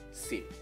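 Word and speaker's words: สิบ: Saat kelas tinggi, lalu suku katanya mati, itu sama dengan kelas menengah. Jadinya dia akan siang e. Oke? Okay? Dibaca jadi sip.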